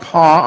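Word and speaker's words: Paugh: quick uh let's see ralph paul p-a-u-g-h help her pronounce right ralph paul of parkersburg and he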